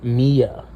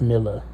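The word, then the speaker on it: Milla: Turns out her name is pronounced Mia, but I didn't know that, so I pronounced Miller the whole time.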